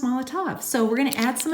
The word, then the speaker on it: Molotow: all the top we used to call it mallet oh but it's pronounced Molotov so we're gonna add some of this to